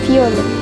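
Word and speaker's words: violette: Violet apalagi ya? Eh, huruf T itu enggak dibaca. Jadi ada T, S, dan beberapa huruf yang sudah dibaca. Ini bacanya viole.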